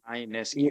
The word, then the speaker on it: Ionescu: you pronounce it. Ionescu.